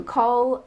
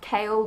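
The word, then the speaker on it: Chaol: It's just But if I'm being honest, I'm kind of voting for Cole, and yes, I know that it's not pronounced that, it's pronounced Kale, but I don't want to associate the Captain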